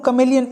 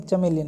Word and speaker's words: chameleon: Next and last stanza, the true कमेलियन is small, ठीक है ना। ये स्पेलिंग जो है वो कमेलियन है, चमेलियन नहीं।